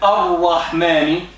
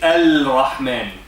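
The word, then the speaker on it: الرحمن: But if you look at Ar-Rahmani, we don't say Al-Rahmani. We say Ar-Rahmani. Do you see any sukoon over the lam? No, because it is not pronounced.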